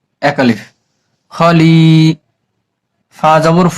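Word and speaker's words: خليفة: তা বাদ হয়ে গেছে এটার নাম হচ্ছে গোল তা লাস্টে থাকলে হা উচ্চারণ করতে হয় এখন তা বাদ হয়ে গিয়েছে তার দুই জবরও বাদ হয়ে গেছে এখন এই হার উপরে একটা সাকিন বসায় নিতে হবে ফা মিলবে হার সাথে সাথে খলিফা খলিফা হা উচ্চারণ করে ছেড়ে দিতে হবে ফিল আরদি খলিফা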